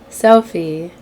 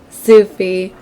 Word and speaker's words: Sufi: Sophie. I think I'm saying it right. So, I'm not. Sufi. I was just corrected.